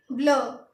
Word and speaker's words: bleu: तो ब्लू को हम पढ़ेंगे ब्लू। क्या पढ़ेंगे? ब्लू। तो इसकी प्रोनाउंसिएशन लिखेंगे BLEUH और इसको लिखेंगे BLEU और इसको हम पढ़ेंगे ब्लू।